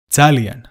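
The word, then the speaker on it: ძალიან: to say very Italian this word starts with the letter that doesn't exist in English listen carefully and match your pronunciation with that of speakers zoo sooo zalien zalien zalien now say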